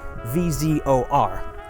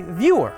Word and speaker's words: Vyor: My birth name is Vzor, so in the English alphabet you'd spell it V-Z-O-R. But you go by Vyor with a Y, not Vzor with a Z.